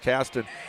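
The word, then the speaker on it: Qastin: number five Andrew Caston spelled q a s t i n but pronounced Caston 59 Junior guard averaging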